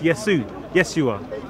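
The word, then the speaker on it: ישוע: And then we see later on, it was shortened to Yod Shin Wav Ein, pronounced Yeshua.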